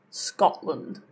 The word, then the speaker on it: Scotland: So, first of all, if a t ends a syllable and the next sound after that is a consonant, it tends to be a glottle stop. Like, for example, Scotland. There was no T in what I just said.